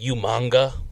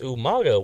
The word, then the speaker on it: Umaga: remember him with Umaga, or as William Regal would say, Umanga. I was like, what? I was like, it's Umaga, William, but he would always say Umanga.